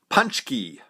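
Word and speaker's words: pączki: Fat Tuesday and it's polish treat called punch key punch key yeah I know it doesn't look like the word punch key but that's how they spell it so if you see that word it's punch key and what they are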